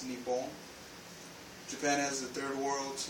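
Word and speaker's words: 日本: the Sea of Japan Japan pronounced in Japanese is neon Japan has the third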